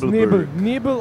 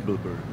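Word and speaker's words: Nebelburg: So it was Nibel or Nebelberg? Nebelberg. Nebel. You're voting Germans for Nibel? pronounce it Exactly. Nebel. Okay, so I'm gonna stick with Nibelberg.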